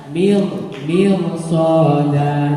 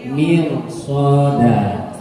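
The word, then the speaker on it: مرصادا: Mirsada, jangan mirsoda ya. Mirsoda. Gitu ya. Mir ya, bukan mir. Kalau mir itu kan meringis suaranya. Ini mirsoda. Ingat ya. Jadi besok kalau bacanya inna jahannama kanat mirsada pasti salah. Ya, jadi harus mirsoda.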